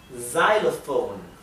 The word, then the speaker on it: xylophone: X for xylophone. Xylophone. ¿Sí? La X en inglés a veces se pronuncia z, como aquí, y a veces se pronuncia x, ¿sí?